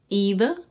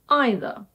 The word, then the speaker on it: either: There are two accepted pronunciations in both standard British and American English.